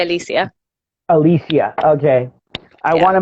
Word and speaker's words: Alicia: But I tend to say Alicia. So I say Alicia.